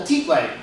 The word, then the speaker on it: tiple: It's called a tipple. In Spanish it's called a tplay. Why Spanish? Cuz it is from the country of Colombia where they speak Spanish.